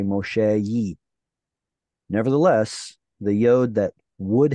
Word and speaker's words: Moshe: of hard to say which turns into Moshe the Y just drops off because it's too hard to say Moshe nevertheless the yod that